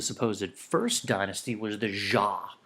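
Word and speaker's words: Xia: first dynasty was the jaah even though it's spelled a little differently we pronounce it with the jaah and all of the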